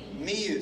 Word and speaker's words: Miyu: Is Mayu the correct pronunciation? Miyu, sorry, Miyu. Yeah, you wanted to fix that.